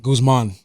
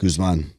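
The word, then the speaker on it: Guzmán: with an accent on the A. Guzman. How do you say it? Guzman.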